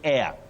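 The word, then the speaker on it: heir: next word you say air that H is silent h e i r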